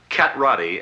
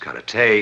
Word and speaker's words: karate: on you your mistake cat rowdy as you call it correctly pronounced cut at a is a defensive form